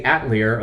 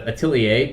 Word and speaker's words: Atelier: Also, side note, you're going to hear me say Atlier a lot instead of atilier because I didn't know how to pronounce it at first and at this point, it's muscle memory.